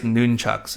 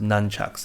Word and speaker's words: nunchuck: So over here we have guys nunchucks, all right? And yes, that is actually the correct way to pronounce nunchuck. It's actually not pronounced nunchucks, okay?